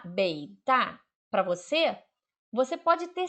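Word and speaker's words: 北大: Então, se você estiver na China e você encontrar esse bloquinho aqui, Beita, ou alguém pronunciar Beita para você, você pode ter certeza que ele está se referindo à Universidade de Pequim.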